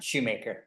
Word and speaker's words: Schumacher: Is it Schumacher or Shoemaker? Shoemaker. All right, you're Mr. Shoemaker.